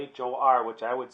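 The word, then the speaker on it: хор: like to look at art x is for zop or choir pronounced huh I should mess that one up didn't I it says xop I said zop and it says pronounced hor which I would say is for children sometimes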